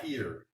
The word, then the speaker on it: fakir: And she pronounces it like the Indians do. I can't. Fakir.